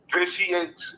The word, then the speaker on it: vitiates: Vitiates is spelled Vitiates, and it's pronounced vitiates.